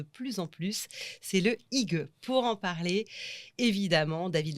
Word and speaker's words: hygge: Bon, alors on dit hygge.